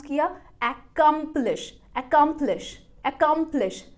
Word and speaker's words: accomplish: Stressed syllable कौन सा है ये भी वो वेबसाइट आपको बताएगी। वो कह रही है बीच वाला जो पार्ट है उसको आपको लाउडर और लॉन्गर बोलना है।